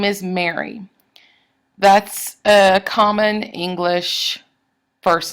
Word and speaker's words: Mary: Like my name is Mary. That's a common English first name. And it's a trochee, Mary.